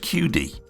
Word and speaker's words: QIDI: This is the, I think it's pronounced QD.